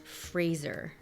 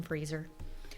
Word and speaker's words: Fraser: million movie it's pronounced fraser fraser rhymes with razor okay sorry brendan freezer brendan fraser nearly died during a